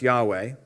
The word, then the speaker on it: Yahweh: just review that first of all yhwh is pronounced Yahweh that is the name of God hello that's